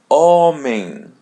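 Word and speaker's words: homem: Letter A or E in English comes before we're going to pronounce it as letter N. Actually, it's a white N. And the word oming oming.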